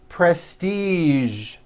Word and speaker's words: prestige: casual television very good now there are only a few words that have the voice sound at the end a few of these words are the color beige the word massage and the word Prestige okay okay now that